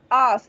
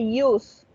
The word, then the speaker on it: us: Please remember, it's us, not use. Aun cuando la U en el abecedario se dice you, en este caso suena us.